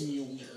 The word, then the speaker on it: Mjolnir: There's a J in there. There is a J in there. It's silent. It's Mjolnir. Mjolnir.